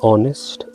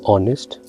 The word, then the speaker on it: honest: we cannot say the honest uh honest we need to add here and because the word h is silent and the pronunciation is coming from this vowel or honest oh so here another